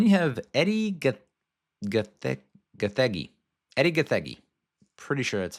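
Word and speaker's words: Edi Gathegi: Eddie GGI. Pretty sure that's how you pronounce it. I looked it up. He's a Kenyan American actor. His last name comes from the Kikuyu language.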